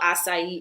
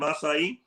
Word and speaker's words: açaí: uh the pronunciation of acai you look at the little cesidelia that's why it's like an s as opposed to a pie like a lot of people say okay yeah let's bring